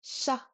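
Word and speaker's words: ཤ: This next letter is sha. Sha. This is almost identical to an English sh.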